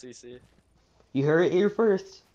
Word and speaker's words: Ceice: It's pronounced CC.